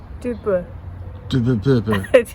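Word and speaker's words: Durbuy: Dubois. Well pronounced.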